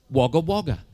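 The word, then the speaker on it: Wagga Wagga: cuz as you know it was written wagger wagger pronounced waga waga. And I wasn't being a pest. I wanted to know. And you know what teachers are like when they don't know the answer? They shout AT YOU. BE QUIET HAR. But sir, sir, sir, sir. Yes, sir. Surely if they'd wanted it to be pronounced waga waga, they would have written it wo.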